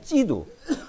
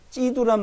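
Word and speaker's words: 基督: 그 예수요, 그러니까 중국 발음으로. 그러니까 중국에는 예수란 이름도 들어가고 지저스도 들어갔어요. 그 예수는 예수, 지저스는 찌두. 그게 같은 말이요. 중국에는 예수란 말이나 찌두란 말이나 같은 겁니다.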